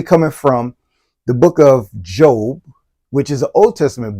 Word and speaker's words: Job: from The Book of Job which is a Old Testament book and it's actually spelled like job j o right for those who don't know but Job chapter 23